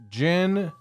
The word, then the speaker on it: djinn: gin No Chaser gross but it's spelled DG d-j-i-n-n like degent like the heavy metal yeah sub genre yeah so I don't think um I don't think that like it's gin like the drank yeah I'm not exactly